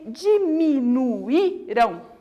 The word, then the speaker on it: diminuíram: O hiato é quando a vogal ela fica sozinha na sílaba. Olha lá. Diminuirão. Saúde. Saída. E o que acontece quando esse i ou esse u ele fica sozinho na sílaba? Para marcar que ele vai ser falado mais forte, vai o acento. Então, saída, Bahia. Todos vão esse acentinho aqui, igual no diminuíram.